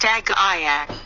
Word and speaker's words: AGLA: Agla. Pronounced Agayak.